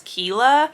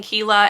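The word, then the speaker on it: Kiela: to say her name I'm saying it as Kela it's k i e l a but anyway she is a librarian and her city is attacked by revolutionaries forcing Kila and her sensient spider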